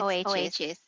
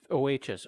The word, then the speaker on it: Oachis: Is that the correct pronunciation? Yes, it's OHS. Okay. OHS. Okay, so is the